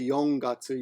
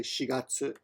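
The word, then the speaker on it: 四月: But when you're talking about April, you don't say yongatsu, you say shigatsu.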